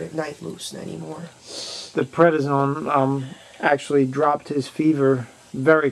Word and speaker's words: prednisone: He's back to himself for a while, and that's because he's on prednisone.